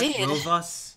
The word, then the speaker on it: Rovas: for him because of his hands his claws Ro us is that right that pronounced that Ro us yes please to meet you says and he